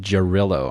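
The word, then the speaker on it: Jarrylo: That's how it's pronounced. Jarillo.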